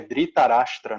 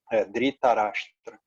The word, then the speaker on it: Dhritarashtra: e cego rei Dhritarashtra, eu sempre falo errado a pronúncia desse nome, acho que é Dhritarashtra, né? Dhritarashtra.